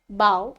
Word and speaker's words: bow: Bow बोलना है आपको, मैंने प्रोनाउंस रॉन्ग किया, so bow, okay.